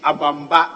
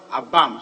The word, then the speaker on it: Abamba: to draw your attention the last Community is abamba and not a bomb so that we will